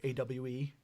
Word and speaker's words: AWE: favorite story one was ah or awe actually what it's actually pronounced because it's ultra world